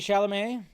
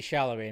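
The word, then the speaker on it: Chalamet: shamay that's right according to Ridley Scott Timothy shalamay was considered to play Lucius D said it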